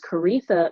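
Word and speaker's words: Koritha: that's p-r-o-f-k-o-r-i again my name is karitha it rhymes with aretha though it's not spelled that way and you can of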